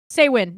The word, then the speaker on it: Samhain: Okay, it's spelled Sam Hain, but it's say when.